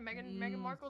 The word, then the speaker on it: Meghan Markle: Meghan Markle. Is that how you say her name? Meghan Markle, that's her yeah, name?